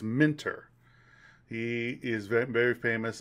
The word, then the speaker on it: Minter: I always pronounce his name wrong. Don't know why. It's not like it's a hard name to pronounce. What was it? Jeff Minter. Minter. Keep saying Minor, but it's Minter.